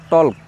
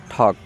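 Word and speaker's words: talk: আমরা অনেকেই বলে দিলে টলক টলক এখানে এল এর উচ্চারণ হবে না ঠক আশা করি ভিডিওটি আপনাদের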